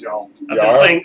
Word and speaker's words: Jarl: It's Scandinavian, it's Jarl.